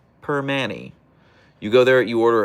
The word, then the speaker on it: Primanti: It's pronounced per Manny. per Manny You go there, you order a cap and egg and an Iron City.